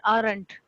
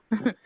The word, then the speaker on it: aren't: Lightly r sound, but not vibrated raw.